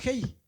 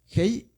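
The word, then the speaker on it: ה: Bueno, se llama Hei. Es muda, pero como tiene esta rayita, la pronunciamos como A.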